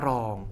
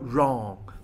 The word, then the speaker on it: wrong: คำ ที่ 50 ค่ะ คำ นี้ อันน ว่า Wrong ไม่ ออก เสียง W นะ คะ ไม่ ใช่ ว่า Wrong นะ คะ ออก เสียง ว่า Wrong แปล ว่า ผิด นะ